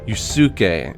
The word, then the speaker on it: Yusuke: Well, in Romaji, it's pronounced Yusuke. It's, you know, that second U isn't pronounced. It's just Yusuke.